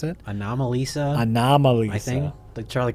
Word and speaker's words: Anomalisa: Animalisa. How do you pronounce that? Anomalisa.